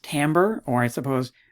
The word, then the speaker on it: timbre: so it is pronounced timbre or i suppose tambo so french it's not timber okay don't call it timber timber is what you